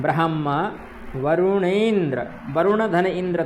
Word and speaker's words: ब्रह्मा: ब्रह्मा ब्रह्मा ठीक है ह का उच्चारण करना मतलब ब्रह्मा बोलते हैं ठीक है ब्रह्मा बोलते हैं तो ब्रह्मा ऐसा हो जाता है ब्रह्मा अलग है और ब्रह्मा ह है ब्रह्मा ठीक ह का भी उच्चारण आना चाहिए ब्रह्मा यम ब्रह्मा वरुणेंद्र